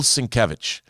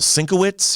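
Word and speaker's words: Sienkiewicz: now i was like is it bill sinkowitz he drew moon knight back in the day and and it it was it took me a long time before i figured out that his name is pronounced since and and he even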